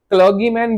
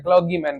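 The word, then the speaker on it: clergyman: बाजू में, जिसको देखो दोनों प्रोनाउंसिएशन है, क्लर्जी मैन भी बोलते हैं, क्लर्जी मैन भी दोनों, वरना वंस अगेन डिबेट हो जाएगी, बोले क्लर्जी मैन बोलते हैं, कुछ लोग बोलेंगे क्लर्गी मैन बोलते हैं। अकॉर्डिंग टू प्रोनाउंसिएशन आप दोनों बोल सकते हैं, हम यहाँ पे बोलेंगे अभी क्लर्जी मैन।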